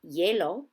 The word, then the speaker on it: hielo: The letter H, when seen in a Spanish word, is silent. Here are a few examples. Ice cream is helado, ice is hielo, and a hamburger is an hamburguesa.